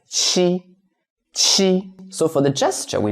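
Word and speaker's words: 七: And for number seven, we read it as she. So Qi, so in most languages, letter Q is pronounced as C. But in Chinese, we read it as she.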